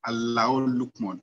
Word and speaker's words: Luqman: good afternoon everyone and that's encouraging my proper pronunciation though my name is luckman or and thank you very much and